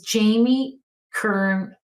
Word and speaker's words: Jamie Kern: And her name is Jamie Kern Lima. I say her name incorrectly because I always want to say it's Jamie Lee first, but it's not. It's Jamie Kern.